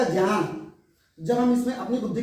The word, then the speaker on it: ज्ञान: बार मिला देने से, एक ही अक्षर कर देने से ज्या हो जाता है, इसलिए तभी तो ये अक्षर बना ज्ञान, तो इसका उच्चारण होगा ज्ञान।